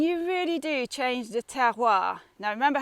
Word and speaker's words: terroir: really do change the terroir now remember how pronounced terroir it's like tear tear a bit of paper and then hua terroir so the terroir here